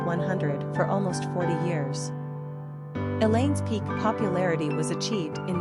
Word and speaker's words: Elaine: Quick facts on Elaine Gender, girl Origin, English Number of syllables, 2 Ranking popularity, 767 Pronunciation, E-E-Lane Simple meaning, ray of